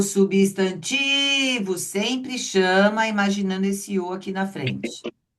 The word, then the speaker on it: substantivo: Então, substantivo. Ah lá. Substantivo. Aí o tique é forte.